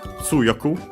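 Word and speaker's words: 強く: In this case, uh the accent moves on the third to last instead of staying on the second to last.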